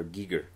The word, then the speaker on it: Giger: tacles man mhm also it's not HR gager it's HR Giger it's how how do